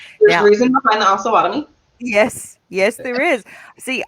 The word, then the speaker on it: Osawatomie: I say Osawatomie. Osawatomie. Now, Yep. is that right, Kristen? Is it Osawatomie? It depends. It Okay. can also be pronounced Osawatomie. So the way that I tell people is Osawatomie, but there are a lot of um, locals that do say Osawatomie.